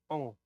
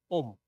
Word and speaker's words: Om: But in Chinese, they always say Ong, right? So there's a difference. So it's not Ong, it's Om, right?